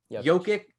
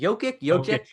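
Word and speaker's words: Jokić: We got LeBron, Anthony Davis, Giannis, Luka, Kawhi, KD, Damian Lillard, Steph, James Harden, and Nikola Jokic. Is it Jokic? Jokic. Nikola Jokic. I have a hard time pronouncing that.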